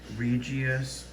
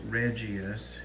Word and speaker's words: regius: it out is python regius or regis depending on how you pronounce it it's r-e-g-i-u-s so obviously he's regis